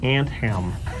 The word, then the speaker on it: Anthem: to clarify this, that it's actually Anthem, like pants, like tiny pants on an ant that are too long, and they've shortened them.